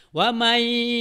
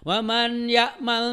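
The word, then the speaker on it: وَمَنْ يَعْمَلْ: Ya ketika kamu jadi imam atau kamu baca wa man ya'mal mithqala dzarratin khairan yarah, salah. Ya. Menurut ilmu tajwid harusnya adalah wa may ya'mal mithqala dzarratin khairan yarah gitu.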